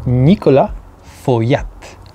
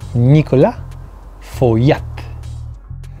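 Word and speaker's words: Nicolas Feuillatte: number three it's also trick one because it's Nicola for Yap one more time Nicola for yet number two this click one more time click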